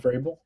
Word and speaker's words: Vrabel: Mike Vrabel. Mike Vreyel is a really good head coach.